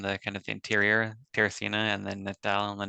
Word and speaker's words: Teresina: Brazil, Teresina.